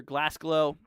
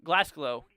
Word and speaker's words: Glasgow: with my family here so glass glow or Glasgow yeah that's how you see that but right here towards